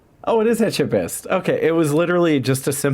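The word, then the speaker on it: Etchebest: Learn how to pronounce Phipe etchest. Philip Etchest. Oh, it is Etchabest.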